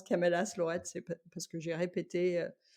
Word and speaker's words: Camellas Lloret: Moi, je le prononce Camélas Lorette, c'est parce que j'ai répété, ce que ce que Annie, m'a dit.